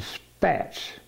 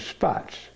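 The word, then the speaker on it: Spaatz: She didn't want to pronounce it Spats, so she called it Spots.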